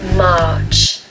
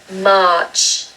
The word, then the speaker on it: March: Now with this one, if you want a British accent, don't pronounce the R.